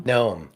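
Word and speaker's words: Noem: Noam. Noam, Secretary of Homeland Security.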